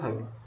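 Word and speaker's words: thiol: बहुत सारे बच्चे इसको थायोल बोलते हैं, बहुत सारे लोग इसको थियोल बोलते हैं, जो भी आपको अच्छा लगे, ये इसका स्पेलिंग है, आप उसके अकॉर्डिंग इसको प्रोनाउंस कर सकते हो।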